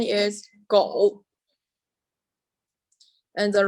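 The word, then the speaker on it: 狗: Its pronunciation is "go."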